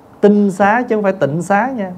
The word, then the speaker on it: tịnh xá: tinh xá cho phải Tịnh Xá nha Bây giờ mình đọc hơi chạy là chữ tịnh xá đó chứ đúng đọc là đúng cách cách độc là tin xá là cái nhà trong